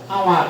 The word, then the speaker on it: hour: আমরা এইটুকু ধরি যে এটা হলো আওয়ার এটাতে আবার কেউ হাওয়ার হলো না এখানে কিন্তু এইস নাই আওয়ার এটার উচ্চারণ হলো আওয়ার ও ইউ আর আওয়ার এর অর্থ হলো ঘন্টা